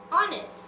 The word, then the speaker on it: honest: Even if the first letter is H, when we pronounce, we don't pronounce the consonant. We pronounce the vowel.